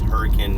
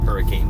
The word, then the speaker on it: Hurricane: hurricane so basic and it's hurricane not hurricane just you know again it's just how it's pronounced and so what we